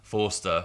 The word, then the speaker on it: Forster: Forster.